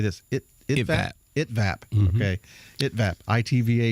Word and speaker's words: ITVAP: how do you say this it is at it vApp okay it that I TV ap we're going